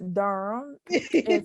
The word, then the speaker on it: Durham: is but um yes durham we call it d-u-r-m it's but that's not how you spell it but that's how we think um but yeah i've